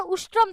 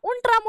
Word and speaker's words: उष्ट्रम: तो उस टाइम पर ऊंट को उनको सही से ऊंट का उच्चारण उष्ट्रम था, उष्ट्रम शब्द बोलना नहीं आया, उंट्रम उंट्रम उंट्रम कहते हुए बावले से हो गए।